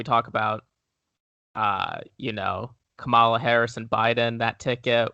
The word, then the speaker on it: Kamala: are you talking about rhymes with pamela what the [ __